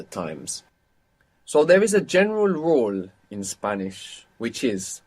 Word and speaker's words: general: now, for example, in general, how is this pronounced in Spanish? General. General. And it's spelled the same. So there we understand that GE makes G sound.